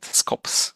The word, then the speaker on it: SKOps: It's SKOps, right? Ops, we call it. Okay. I don't know. People can pronounce it differently, maybe. Okay, so we will stick to your way of pronouncing it, SKOps.